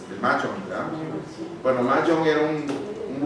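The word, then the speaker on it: Mojang: La que desarrolló Minecraft, si bien recuerdo, el nombre se pronuncia Mahjong. Mahjong, ¿verdad?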